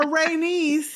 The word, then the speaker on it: Rhaenys: Then, for Rhaenys, it's Ray, R-A-Y, and then the word niece, N-I-E-C-E.